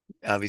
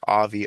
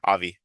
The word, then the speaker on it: Aby: Avi says it was kind of my question, but it makes sense. Also, my name is pronounced like Avi. Oh, sorry, Avi.